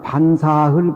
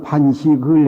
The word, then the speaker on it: 반사: 반사라고 하는 것은 밥을 먹어 마치시고 먹는다 할 적에는 동사기 때문에 사로 발음을 해야 되고 밥이라는 명사는 식이 해당돼요. 밥을 먹었다. 그러니까 반사흘 그러죠. 뭐 금강인 예원사는 반식을 해서 한데 그건 틀리게 발음한 겁니다.